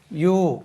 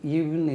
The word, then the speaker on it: ewe: பெண் ஆடுக்கு யூ உச்சரிப்பு, EWE. இதுக்கு உச்சரிப்பு யூ. எப்படி உச்சரிக்கணும்? யூ, EWE, ஈவுன்னு இருக்குது, யூ.